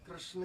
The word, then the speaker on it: कृष्ण: जैसे उड़ीसा में कृष्ण को बोलते हैं कृष्ण, बांग्ला में कहेंगे कृष्णो, कृष्णा, कृष्णो, माने ये अलग अलग जो देश है ना, अलग अलग प्रोनाउंसिएशन तो अलग है।